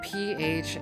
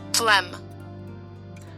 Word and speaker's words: phlegm: P-H-L-E-G-M. No, okay, no, no. Definition. There we go. Phlegm. Phlegm. I feel like there are letters that shouldn't be here.